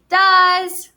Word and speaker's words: does: So does starts with a s. Now that E is kind of silent.